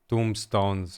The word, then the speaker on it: tombstone: And then I scroll through the conversation and I don't see any tombstones or tombstones. I don't even know. How do you pronounce it, by the way? Oh, so the B is silent. Tombstone.